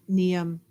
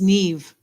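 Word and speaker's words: Niamh: at I'm trying to how do I pronounce I would have to say neam but I there's got to be a trick to it oh it's Neeve the MH is a v ah of n yeah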